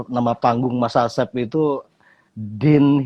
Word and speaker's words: Dhen: Rupanya nama panggung Mas Asep itu Din Mas ya. Den ya. atau Din Mas bacanya. Den. Den.